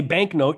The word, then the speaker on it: banknote: When you say banknote, you don't mistake it for a KN digraph, because you can't have a KN with a K in one morpheme more than the other.